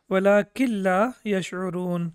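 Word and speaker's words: وَلَٰكِن لَّا يَشْعُرُونَ: And we know the rule of the tajweed: when noon is sakin and after that we have lam with tashdid, then the noon is not pronounced. So it will be walakin la yash'urun when you are reciting the Quran.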